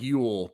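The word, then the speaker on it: Llull: that Sergio Sergio you it's pronounced like Ule but this dude just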